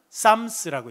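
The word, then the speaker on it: Psalms: 그래서 풋살모스에서 나온 PSM s로 써 놓고 영어로는 쌈스라고 읽습니다. 그래서 어 이런 시편 용어가 되겠습니다.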